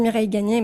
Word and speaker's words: Mireille Gagné: Alors je dis Mireille Gagné, mais ça s'écrit Mireille Gagne, donc...